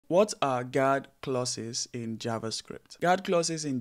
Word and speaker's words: guard clauses: I was saying guard classes instead of guard clauses, so I apologize for that.